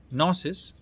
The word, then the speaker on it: Gnosis: The G is silent.